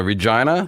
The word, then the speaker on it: Regina: and he says that Regina is the city that rhymes with fun yes that that is